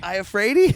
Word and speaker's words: Iafrate: Iafrate. Iafrate?